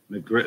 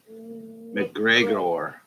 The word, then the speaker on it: McGregor: McGritt, no, go back. Say it right. What's his name? McGregor.